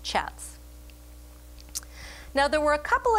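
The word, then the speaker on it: kyat: about 820 Myanmar chats that word is pronounced chats now there were a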